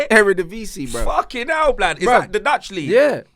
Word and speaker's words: Eredivisie: I couldn't pronounce it. How do you say it? Eredivisie, bruv.